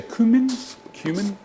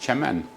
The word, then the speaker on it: cumin: We now add a little bit of cumin, or in America they say cumin. It's actually pronounced cumin. And if you're in Turkey, it's pronounced chaman. But this is not Turkish, this is actually Lebanese.